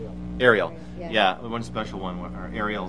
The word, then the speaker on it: Ariel: I don't want to get her name wrong. Was it Ariel? Ariel.